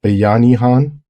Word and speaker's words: bayanihan: bayani which means hero I mentioned the concept of bayhan in a prior episode and I wasn't sure if I was pronouncing it right and I didn't I'm hoping I pronounce it right is banian B bayanihan um is is the word I